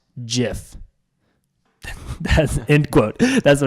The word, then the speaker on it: GIF: pronunciations they are wrong it is a soft G pronounced jiff end of story end quote there